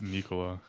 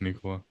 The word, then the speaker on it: Nikola: You told me because he's Serbian, you pronounce it Nikola. Mike Malone pronounces it Nikola, and that's his coach. I'm taking Mike Malone's word over yours. It's Nikola, but I mean literally.